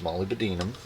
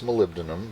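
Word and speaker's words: molybdenum: I still refuse to say it correctly. It's Molly Bedinum. I know that it's malibdinum but I don't like malibdinum. It doesn't it doesn't feel fun in my mouth.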